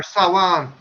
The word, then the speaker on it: Samhain: Samhain or Sawan. Yeah, as it's Samhain. pronounced. You know, Sawan.